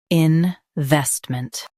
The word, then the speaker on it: investment: Emphasize vest and keep ment clear.